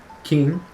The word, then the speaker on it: 金: Kin is a typical pronunciation of it, yep.